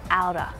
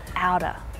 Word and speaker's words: out of: But instead, when spoken naturally, you'll hear outer, outer. Out of becomes outer.